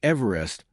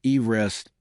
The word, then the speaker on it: Everest: The mountain was renamed in honor of Sir George Everest, a former surveyor of India. Ironically, George Everest himself was against this naming, and even more interestingly, his name was correctly pronounced "eev-rest", not "ev-er-est".